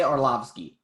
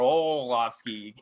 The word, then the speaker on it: Arlovski: much but yeah no it's easy to say arlovsky it is but if you want to say oh obscure you know right away you're saying it wrong you can't return from that or olafsky you're screwing oh my goodness all